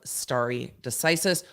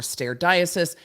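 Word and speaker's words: stare decisis: impression it is a matter of starry decisis or stair diocese depending on how you went to law school and learned to pronounce that word um and whether or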